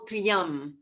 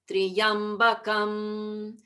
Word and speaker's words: Triyambakam: We have to get that whole Triyam in one sound. So it's one syllable. It's not Triyam, Triyambakam, 1, 2, 3, 4. It has to be Triyam. So Triyam has to be one syllable.